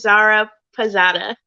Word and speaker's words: Zaira Pirzada: welcome back to shebarb's podcast today's guest is zara posada i see outside i was going to pronounce it wrong thank you so much for